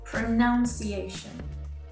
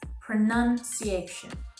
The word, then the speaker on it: pronunciation: improve my pronunciation pronunciation this mistake is probably made from how the verb form of this word pronounce is said and spelled however the correct way to say the noun form of this word is pronunciation pronunciation and now that your